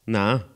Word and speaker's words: nada: The word for nothing, nada, is pronounced nah.